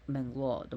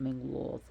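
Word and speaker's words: Menglöð: associate with Mengloth is Menglod, with the D with the line through it, which is a alphabet actually. It's old time, which was Mengloth. That's why it's pronounced like that, not Menglod, but Mengloth.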